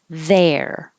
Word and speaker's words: there: There. Think of the vowel as in head or air.